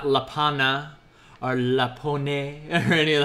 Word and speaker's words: lapin: This is not Lapin. You spell it like Lapin, but you pronounce it Lapa.